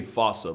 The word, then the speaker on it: fossa: to lemurs everywhere, the fusa. Although with its spelling, I'm pretty sure it's actually fossa, but the day I pronounce it like that is the day I lay my childhood to rest.